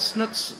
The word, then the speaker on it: Snook: fun fact Snook's last name is actually pronounced snook but I just can't do that right another fun fact Matthew